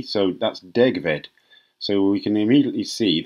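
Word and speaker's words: degfed: And then the Welsh, in Welsh, one F is pronounced V, so that's degved.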